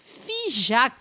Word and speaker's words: Figeac: a wonderful surprise uh fak is spelled by the way f i g e a c and it's typical of a lot of the names of places in the southwest that end with that AC which uh actually is